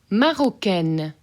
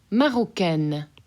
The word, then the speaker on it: Marocaine: Marocaine. Marocaine. So that N gets very obviously pronounced.